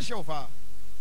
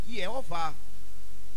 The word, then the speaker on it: Jeová: Porque não existe J. No alfabeto grego, no alfabeto hebraico não tem J. Então não é Jeová. O mais próximo que seria de uma pronúncia seria Iéová. Com I, Iéová. Porque o I existe.